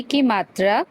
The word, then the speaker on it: कीमत: छोटी इ की किरण इसमें आप देखेंगे कि ये जो इकार है इसका जो उच्चारण है किरण ज्यादा लंबा नहीं किरण की किरण नहीं है किरण क प्लस बड़ी ई की मात्रा की कीमत कीमत थोड़ा सा बड़ा होता है इसीलिए इसको बड़ी ई बोला जाता है।